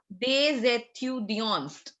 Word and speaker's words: des étudiants: So we carry forward the sound of S along with E. They and étudiant together is pronounced des étudiants.